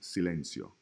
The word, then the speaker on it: silencio: When the letter C is followed by an E or an I, E or E, those are two vowels, it is a soft C. It's pronounced like the S in the word Sally.